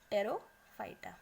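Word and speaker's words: Pteridophyta: तो what is इट, साइलोफाइटा, P silent है इसमें, लाइकोफाइटा, स्फिनोफाइटा एंड टेरो, इसमें भी पी साइलेंट है, टेरोफाइटा, ठीक है।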